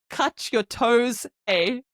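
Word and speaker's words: catorce: I came up with this thing in my head of it's like cut your toes a I don't know why but every time I remember 14 I think cut your toes a k this is so random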